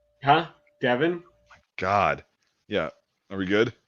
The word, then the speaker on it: Devin: Yeah, Devon is like the Black Lady way of saying, yeah, because that's how it would be pronounced in English. Devin is pronounced like how I spell it, so Devin and Devon are different.